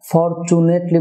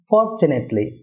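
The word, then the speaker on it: fortunately: no dist deer ভিয়ার এটাকে আমরা ফরচুনেটলি বলে থাকি এটা ফরচুনেটলি না হয়ে হবে ফরচুনেটলি ফরচুনেটলি ফরচুনেটলি ডিয়ার ভিয়ার এখানে স্ট্রেস হবে ফরের ফরচুনেটলি কুড হ্যাভ সাধারণত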